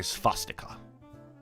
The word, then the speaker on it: swastika: doing that with W's I don't see swastika I say sustica you say it like the Germans do you know yeah it's